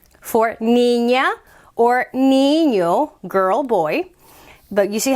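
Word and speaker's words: niño: the any in there because this this one actually has both the regular end and the aenya end it makes that new sound that doesn't exist in english and here we put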